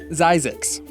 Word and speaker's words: Zzyzx: zzyzx a real place it has a real pronunciation xyzax the word was coined by curtis springer he